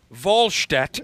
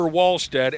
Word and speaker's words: Wallstedt: It's Jesper Wallstedt, not Jesper Wallstead, and it's Marcus Mariota with a hard T.